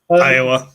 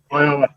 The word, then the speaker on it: Iowa: in Iowa. Yes. Is that the right pronunciation? Iowa? Yeah. Yep. Iowa. Yep. Iowa.